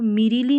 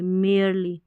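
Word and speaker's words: merely: next देखें, Rakshabandhan is there for, Rakshabandhan इसलिए, इसलिए नॉट, अब इसको मीरीली नहीं पढ़ेंगे, मेयरली, मेयरली यानी कि केवल,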